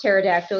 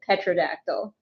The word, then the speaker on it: pterodactyl: And you know it's pronounced pterodactyl. to intentionally pronounce it. Petradactyl.